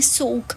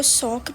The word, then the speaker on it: Souq: सो इस जगह का नाम है सुक। अच्छा कुछ लोग इसको सॉक से प्रोनाउंस करते हैं। कुछ इसको सुक भी कहते हैं।